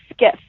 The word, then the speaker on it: Skiff: I have an art page that is called Studio Skiff. Skiff is like a boat. So it's spelled Sierra, Kilo, India, Foxtrot, Foxtrot.